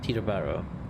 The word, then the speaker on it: Teterboro: are so T turbo so if you don't pronounce er this you know Bo Tito Tito borrow to the Barrow Teterboro you know Tina Barrow just do not roll